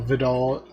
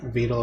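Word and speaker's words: Vedal: And Annie here is the the mother of said program while Vidol Vidle is like the father. Veto is his actual name. I don't know why I keep mispronouncing it.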